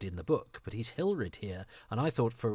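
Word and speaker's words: Hilred: think he's Hildred in the book, but he's Hilrid here. And I thought for a while it was just George Pravda, his pronunciation, his issue for him. But it's in the credits. He's Hilrid, not Hildred.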